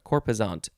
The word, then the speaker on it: corposant: materiality next word we it is cor with an s or z sound corpuzonte and that's how it's